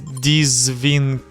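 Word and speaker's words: дзвінкий: The problem, the DZ sound at the beginning. In English, DZ doesn't exist as a separate sound. Foreigners try dзвінки or dзвінки, but that's wrong. The correct way, dзвінки.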